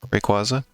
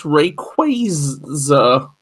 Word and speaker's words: Rayquaza: one the box elena how do you pronounce it requisite well actually apparently that's wrong it's rayquaza apparently oh i thought that